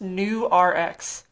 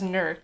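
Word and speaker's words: Nurx: project so that's actually supposed to be pronounced new rx like new prescription hmm but it definitely raised as newark s-- and it's mostly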